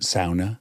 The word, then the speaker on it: sauna: And did he pronounce it sauna? Because we say sauna, but I had a girlfriend whose father was Finnish, and he said it's a sauna. We invented it. It's sauna.